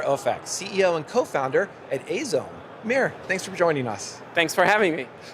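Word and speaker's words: 藍染め: is actually called Azome, or in Japanese it's pronounced Azome, which would be hard for others to pronounce.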